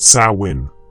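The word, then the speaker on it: Samhain: This ancient Celtic festival pronounced sawin has evolved into our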